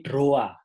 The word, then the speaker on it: droit: droidpedia katanya temen-temen hal cara membacanya bukandroid The Heirs nanti jadi Android tapi droa kalau bahasa Prancisnya droit itu jadinya doa karena istilah ejaan dalam